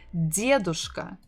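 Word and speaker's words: дедушка: full form would be diadoska Dia douche stressing the first syllable diadoska foreign so this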